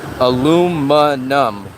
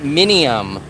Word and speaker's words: aluminum: caramel correctly good afternoon aluminum I did sneeze it's not mini it's not minium there's no I in it so Europeans